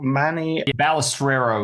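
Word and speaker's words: Manny Balestrero: wrong so you have to help me out Manny balustrero is the way it's pronounced okay I should get that right because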